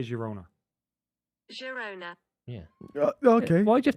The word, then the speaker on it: Girona: Girona. Okay. Why do you have to keep going Garona.